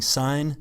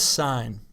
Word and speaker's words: sine: What is sine? Sine means the length of the opposite leg divided by the length of the hypotenuse. Sine is abbreviated as SIN, pronounced sine, not sin, which is equal to